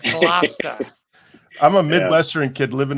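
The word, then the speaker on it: Gloucester: kid man all right it's not glester it's GLA I'm a Midwestern kid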